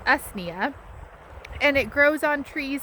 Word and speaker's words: usnea: So if you don't know or have never heard of old man's beard, it is, I believe it's pronounced usnea, and it grows on trees symbiotically, and then I think other bushes and other things.